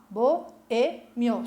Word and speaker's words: boêmio: Ó, boêmio, se eu for separar em sílaba. É paroxítona? É a segunda sílaba, a sílaba tônica, a sílaba mais forte, tá?